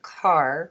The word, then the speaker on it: Kerr: I always tell everybody think of the Mason jar right right parents by